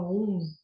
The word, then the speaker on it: aum: é na verdade um né se escreve aum se fala um o Rig o Sama